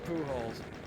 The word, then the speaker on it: Pujols: yeah, I was like, yeah, because I was thinking to myself, isn't the accent on the later syllable if you pronounce it in Spanish? It's like, nah, it's Pujols.